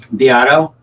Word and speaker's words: Beato: And I do remember Rick Beato, or how do you pronounce it? Beato.